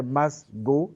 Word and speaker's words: Masgo: le « e », j'ai enlevé le « un », donc ça fait Masgo, simple, et c'est route.